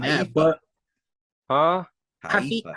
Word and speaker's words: Haifa: I'm definitely not pronouncing that, but Huh? Haifa. Haifa.